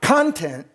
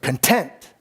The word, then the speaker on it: content: the truth that's why the word for the day is content not content but content i went out of my way to put the accent on the tent because content is exactly